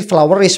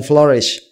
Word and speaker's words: flourish: Tadi ada mispronunciation sedikit begitu ya. Jadi kayak ya saya dengar sih flowerish begitu flowish itu kan e berbunga ya bukan flourish ya.